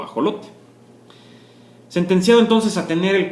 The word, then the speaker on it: ajolote: de lo que es el ajolote o acholote Porque también se escribe tanto con j como con x y bueno después